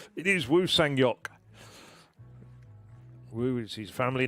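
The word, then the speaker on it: Woo Sang-hyeok: I'm still going to go with the correct Korean pronunciation of it. It is Wu Sangok.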